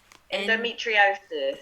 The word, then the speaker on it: endometriosis: Endometriosis.